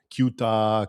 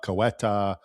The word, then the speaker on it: Ceuta: People call it Ceuta, Cueta. But um someone gave me a good little remembering device. They say call it say Utah and I think that's the closest way to pronounce it like a true Spaniard.